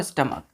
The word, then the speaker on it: stomach: क्या पढ़ते हैं इसको, स्टमक। तो स्टमक जो है बच्चों, हमने बोला था आपको, क्या बोला था कि CH के जगह पे क्या आ जाता है, प्रोनाउंसिएशन में के आ जाता है। ठीक है, तो इसलिए क्या हो जाएगा, स्टमक हो जाएगा।